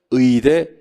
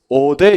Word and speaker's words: 의대: 의 발음이 안 되는 분이 우리 학원에 한 분이 계시네. 의대 감기 자수 시작. 어대 이런 분이 계시는데 어대 아니고 의대 잘못이 아닙니다, 여러분들.